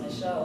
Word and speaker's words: Michel: Michael, which is correctly pronounced Michelle because it's a French name.